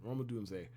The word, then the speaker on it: Rome Odunze: Rome Odunze, excuse me, that's how you pronounce it. Rome Odunze.